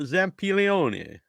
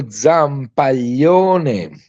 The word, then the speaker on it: Zampaglione: It is Federico Zampaglione. I mean, it's very long family name. And, every time American people try to pronounce it, it's Zampaglione.